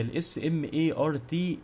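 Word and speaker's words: S.M.A.R.T.: معلومات حاله الهارد تمام او هي مش بتتنطق سمارت هي الاس ام اي ار تي دي اختصار لحاجه تاني تمام وهنا ممكن تعمل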